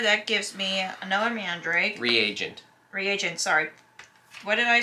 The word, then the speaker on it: reagent: Reagent. Reagent, thank you. You said regent again.